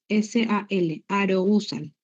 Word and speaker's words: arousal: Los componentes del estado de conciencia son dos, que son el nivel de alerta, activan a arousal, A-R-O-U-S-A-L, arousal, que se pronuncia arousal.